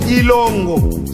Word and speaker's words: Kilongo: Ça s'écrit Kilongo, mais ça se lit Ilongo, ou ça se prononce Ilongo. Parce que chez les Emba, les K n'est pas prononcé.